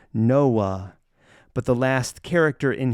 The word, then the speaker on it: Noah: a man named noah we often pronounce his name with the silent h noah but the last character